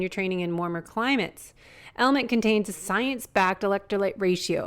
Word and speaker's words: LMNT: our sponsors lmnt element it's spelled lmnt but pronounced element if you haven't heard